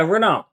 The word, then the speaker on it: Renault: Yeah, Renault. Renault. Because I pronounced it as Renault and they're giving me Yeah, it's Go ahead.